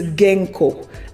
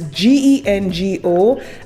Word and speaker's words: Gengo: The next company is Genco. And again, I may be mispronouncing this. It's Gengo, and the link will be on my Patreon.